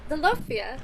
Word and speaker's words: Zalopia: Zalopia. Zalofia, please describe yourself. I am Zalopia, which is my horrible pronunciation of the Latin name for a Galapagos sea lion.